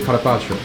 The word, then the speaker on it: carpaccio: 意大利文发音是 carpaccio。